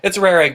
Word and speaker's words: Roehrig: Taylor, and Caleb Roehrig. Did I pronounce that right, Caleb? It's Roehrig, but you're close enough.